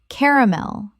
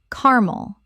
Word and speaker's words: caramel: Caramel or carmel. Both are accepted, but the three syllable version is more standard in British English.